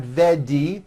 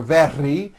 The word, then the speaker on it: very: middle of the word it's not a d sound the word is not vedi or very it's very make sure that the